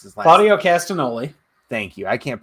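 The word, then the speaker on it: Castagnoli: gonna go with the kings of wrestling claudio cascaloli i can't pronounce his life mario castanoli thank you i can't pronounce his last name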